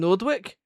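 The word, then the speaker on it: Noordwijk: I think it's pronounced Nordwick. N O N O O R D W I J K which is a coastal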